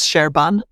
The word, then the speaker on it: Serban: Is it Serban or Serban or Serban? The pronunciation is Sherban, but I probably get that wrong too.